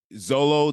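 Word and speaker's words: Xolo: take notes on well look at the actor Zolo that's how you pronounce his name yeah yeah let's just look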